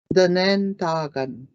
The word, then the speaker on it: Danen Dagan: That's how we pronounce that. And again, you kind of have to break it up in like in syllables. Duh. And it makes that short, it's a short vowel, D-I, duh, nen, da, and again you have the double A in there, da, nen, da, gun.